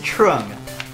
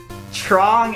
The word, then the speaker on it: Trong: okay for the record this is Trung no t-r-o trong is spelled t-r-o-n-g so you actually got